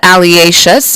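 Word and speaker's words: alliaceous: l i a c e o u s alious alious alious your word of the day is pronounced alious it's an adjective a descriptive word and it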